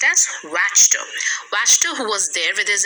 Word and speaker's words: Wachter: bless myth washed her who was there it's pronounced as ratchet wachter who was there with his apprentice apprentice is